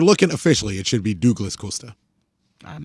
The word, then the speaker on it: Douglas Costa: He's Douglas Costa. He should be pronounced Douglas Costa.